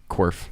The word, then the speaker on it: Korff: can't how are you I'm good cuz I pronounced your name okay okay good and I'm here with Tristan Worf hello everyone Worf that's right yes okay all right we got